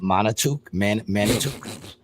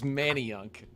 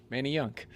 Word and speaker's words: Manayunk: No, it's Manayunk. Oh, Manayunk. All right. Yeah, so it's like Manny, like Manny Ramirez, and then Yunk. Manny Yunk.